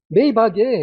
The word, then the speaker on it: 마이바흐: 뭐 메이바이에 얘가 마이바그잖아요. 메이바 이렇게 발음들을 합니다. 외국 사람들은 자 마이바흐가 이게 오리지널 마이바가 아니에 얘는 벤츠 S클래스 리무진 솔직하게 말씀드려야죠.